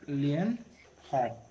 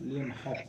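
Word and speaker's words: Leeuwenhoek: एंटन वॉन लुवेनहॉक। हाँ, एंटन वॉन लियन हॉक। हॉक होगा, लियन हॉक उच्चारण।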